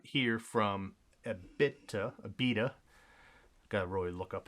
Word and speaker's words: Abita: up we got here from a bit to Abita gotta Roy look up how to pronounce my breweries but this is Abita this